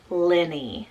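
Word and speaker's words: Lennie: so i have the name liddy lissy and lenny so l i d d i e double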